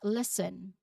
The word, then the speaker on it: listen: Next is listen. Very simple. The silent letter is T.